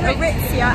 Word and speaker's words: Aritzia: That's how you say it, Aritzia.